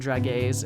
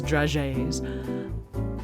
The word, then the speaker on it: dragées: I know I was saying it wrong in the last episode. I was saying dragées. It's dragées.